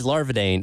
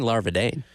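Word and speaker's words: Larvadain: Gage Larvadane. It's actually Larvadan. Larvadan. I knew that. But we've been saying Larvadane.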